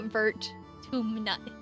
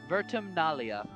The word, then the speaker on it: Vertumnalia: Why Vertuminalia? This word. Vertumnalia.